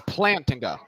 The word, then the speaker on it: Plantinga: this example like one of the pla it's plantinga Alvin pla is how you pronounce his name it's not pla it's Alvin